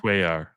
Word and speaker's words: Cuellar: His name is pronounced Cuellar.